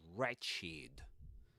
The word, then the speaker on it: wretched: that one wretched and the pronunciation the the W is not pronounced forget about it that's re wretched wretched wretched Great.